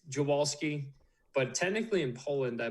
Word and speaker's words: Dziwulski: It's Dziwulski. That's how we say it in Maryland. If we went to Poland and said that, they'd probably smack me in the face and tell me that I was a disgrace.